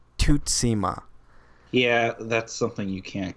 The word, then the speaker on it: Tsushima: can't get right no they'd say Tsushima and that's not it because I watched the video they pronounced it there is how you're supposed to pronounce it though I watched the video of the developers and he said something like to SEMA yeah that's something you